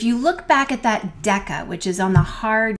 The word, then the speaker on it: deca: the hard k sound kilo and deca both have a hard k sound sometimes people spell Deca D CA that's okay but what you need to know is that they both have the hard k sound regardless of how you spell them let's do some examples